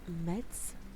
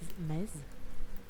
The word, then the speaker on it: Metz: And Metz, the Z makes an S. Metz. Just Metz.